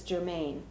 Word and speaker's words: Germane: channeled from the consciousness Germane. Just to be clear, Germane is not Saint Germain.